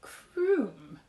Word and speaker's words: Crumb: Actually, it's pronounced croom, corrected Mother.